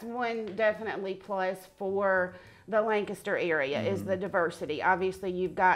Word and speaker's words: Lancaster: Right, and I think that's one definitely plus for the Lancaster area is the diversity.